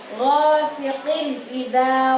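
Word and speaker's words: غاسق إذا: Yang pertama ayat yang ghasiqin idza waqab. Di situ ada kasrotain, ghasiqin di huruf qaf tadi harokatnya ada kasrotain bertemu dengan alif. Ghasiqin idza. Nah, jadi bacanya harus jelas. Ghasiqin idza waqab.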